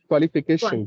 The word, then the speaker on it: qualification: example okay just take this word qualification right qualification there a word so just break it down this word into small syllable qu five syllable five now as this